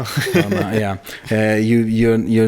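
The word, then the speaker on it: Balmain: Like buying a t-shirt from Balma or how you pronounce I don't know how you should pronounce it. Balmma. Balma.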